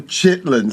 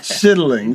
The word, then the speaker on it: chitlin: She talks about the the chiddling circuit, you know, or we call the chitlin circuit. The chiddling. She pronounces it properly.